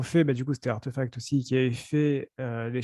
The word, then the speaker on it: RTFKT: incompréhensible, RTFKT, en fait, il faut le prononcer en anglais. Le R se prononce R, Art. et du coup, Artefact.